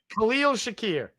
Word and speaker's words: Khalil Shakir: How do Khalil Shakir?